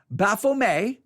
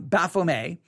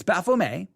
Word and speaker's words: Baphomet: o m e t bafflemay the t is usually not pronounced it's a french word um baphomet but and sometimes in america you'll hear it pronounced baphomet but it's baffle me and baphomet is they